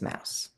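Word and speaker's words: Maus: But let's talk about Art Spiegelman's Mouse.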